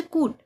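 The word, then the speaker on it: could: जैसे कूट कूट। कुड यानी सकना। इसमें भी यू के बाद एल आया है तो एल साइलेंट हो गया। इसको बोलेंगे सिर्फ कूट।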